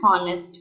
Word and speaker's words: honest: right for example an honest man and honest man h is not a verbal right but h is silent here and it gives a